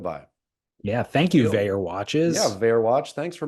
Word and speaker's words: Vaer: We couldn't do it without you, Vayer Watches. Vayer is spelled Vaer.